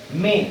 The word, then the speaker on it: mais: कैल्कासोस मींस something, इसका मतलब होता है सम, और चूज का मतलब होता है थिंग। मे, MAIS, मेस नहीं है, मे है, MAI, इतना प्रोनाउंस होगा, एस प्रोनाउंस नहीं होता।